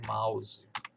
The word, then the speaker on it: mouse: Aí você vê que esse som de OU tem um som mais puxado em português com A, né? A gente vai dizer mouse. Seria parecido com algo assim, mouse, né? Mouse, mal, ao.